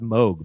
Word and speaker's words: Moog: I heard it's pronounced Moog, by the way.